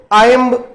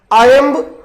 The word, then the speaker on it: iamb: 4 standard foot होते हैं जिनको आयम्ब, एनापेस्ट, ट्रकेइक और डैक्टिलिक कहा जाता है।